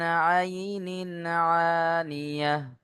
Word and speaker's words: عين آنية: প্রথমে আইন আর দ্বিতীয় হামজা, দুটোর মধ্যে হালকা পার্থক্য থাকতে হবে। বুঝতে পারছেন? তুসকা মিন আইনিন আনিয়াহ। একটা কণ্ঠনালীর মাঝখান থেকে উচ্চারণ হয় আইন, আর হামজা কণ্ঠনালীর শুরু হতে উচ্চারণ হয়, অর্থাৎ নিচের দিক থেকে। বুঝতে পারছেন? দুটোর মধ্যে যেন পার্থক্য হয়।